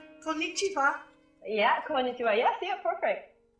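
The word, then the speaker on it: こんにちは: We say konnichiwa. Konnichiwa.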